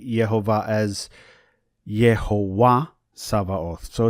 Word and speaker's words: Savaoth: I would like to note that I am using the Koine pronunciation of the letter Veta, so you will hear it as a V sound and not a B sound.